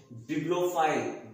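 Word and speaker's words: bibliophile: देखिएगा मैं क्या बोल रहा हूं, बिब्लोफाइल, बी आई बी, क्या बी आई बी, ध्यान रहे मैं स्पेलिंग बहुत ध्यान से आप लोगों को बताता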